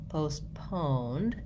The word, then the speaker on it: postponed: of COVID in 2020, you'll hear that there's actually no T sound there. Also, in both versions, we have second syllable stress, which means that we're short on that first syllable, postponed, and longer on the second syllable.